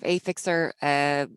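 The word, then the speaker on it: Affixa: I'm founder of Affixer. So yeah, you asked about how to pronounce it. It's a play on words of A and fixer.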